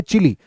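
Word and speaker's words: Chile: shape का भी है स्पेलिंग बस याद रख लेना भाई स्पेलिंग अगर आप ऐसे पढ़ना चाहोगे तो शायद आपको चाइल पढ़ने में आए लेकिन इसको चिली पढ़ते हैं चिली अब यहां पर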